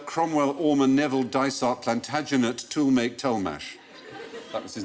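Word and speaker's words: Tollemache: toh tolh family it's double barrel same name but each half was pronounced differently oh so it's pronounced tool make toh the tool make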